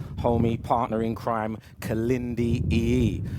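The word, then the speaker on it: Iyi: His last name is pronounced E-E, which is spelled I-Y-I.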